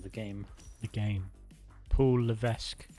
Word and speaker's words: Levesque: game the game Paul Levesque I think it's Le it's got s in there but I think you don't pronounce it when when they used